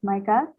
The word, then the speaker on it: Maikath: hi everyone uh our team is micah that's how you pronounce it and today we're going